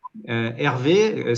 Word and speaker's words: Hervé: Hervé, ça s'écrit comme le prénom Hervé. Et ça reprend les 2 lettres de réalité virtuelle Hervé.